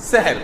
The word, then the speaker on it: সাহুর: যেভাবে হোক এই শব্দটা ভুল প্রচলিত হয়ে গেছে আমাদের সমাজে, আসলে এটাকে কারেকশন করে নেই, সংশোধন করে নেই, শব্দটা হবে হয় সাহুর আর না সাহরি, হয় বলবেন সাহুর, আর সাহুর বলতে যদি